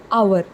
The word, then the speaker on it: hour: But as I have already told you, this word hour is not the letter H is silent in this particular word. H is silent, and we pronounce it as hour.